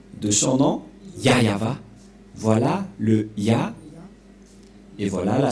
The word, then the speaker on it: Yahvah: ne voit rien et donc c'est bien la prononciation de son nom yava voilà le et voilà la suite aprèsa voilà